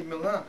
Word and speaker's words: Milan: Mile, in Italy, we say Milan. It's Milan here.